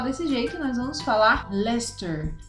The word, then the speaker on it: Leicester: Leicester, Mas a gente não vai falar desse jeito, nós vamos falar Leicester. Leicester, tá vendo?